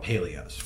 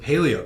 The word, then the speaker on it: Palio: And he was like, bro, that's a box of, we call them Paleos. Okay. We say it wrong. He's like, bro, those are a box of Palio cutters.